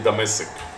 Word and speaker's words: Damascus: area that's the muscles hebrew we say damasic damascus i guess english arabic as well how do you pronounce